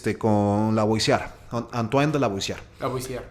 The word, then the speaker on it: Lavoisier: Lavoisier. Ajá, me encanta pronunciarlo en francés.